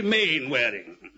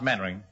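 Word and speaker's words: Mainwaring: swell you must be main wedding actually it's pronounced Mandarin and why the hell do you spell it meanwearing sit down girl thank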